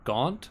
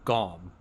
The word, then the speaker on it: Gont: never tell what this guy's name is it Gaunt or Gom? Because it's pronounced Gaunt. both ways. I It's would stake my life on it. it's Gont. That's how it's spelled.